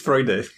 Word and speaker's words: Freude: It's Freude. Go figure. Freude, yes. Like Schadenfreude? Yeah, that's exactly the same word, yes.